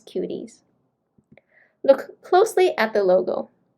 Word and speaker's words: Cuties: So even though it's spelled as QTC, it's pronounced as Cuties.